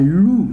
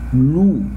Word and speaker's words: loup: So, un oiseau, un chat, un cheval, un loup, look at, the wolf, un loup, un loup, un loup. I don't pronounce the letter P.